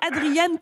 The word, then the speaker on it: Adriane: Bonjour Adrien. Bonjour Nathalie. C'est Adrien ou Adriane? Je le prononce peut-être mal. Adriane.